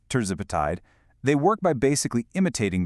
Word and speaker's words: tirzepatide: Medications like semaglutide and tirzepatide, and that's pronounced tirzepatide, they work by basically imitating that hormone.